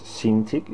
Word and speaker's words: Cintiq: I don't know, it's Cintiq is how it's pronounced in English.